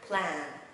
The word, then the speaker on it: plan: Plan, plan. Tuyệt đối không đọc là blend mọi người nha.